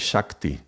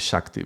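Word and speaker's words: ਸ਼ਕਤੀ: of the words, but sometimes it's pronounced with a Sh, sometimes with an S, with a S. In this case, I would say this is Shakti. This is an I, so this is Shakti.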